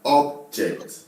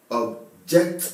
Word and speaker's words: object: This is an object. I object what you're saying. This is an object. So here, object, object, object, object.